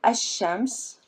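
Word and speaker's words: الشمس: difference I pronounce pause when I say a shams I'm pronouncing Elif I'm not pronouncing lamb as chance when I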